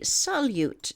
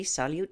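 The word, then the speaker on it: Salyut: spacecraft and its occupants it's known as the solute UFO sighting that's spelled s-a-l-y-u-t between May 14th and May 18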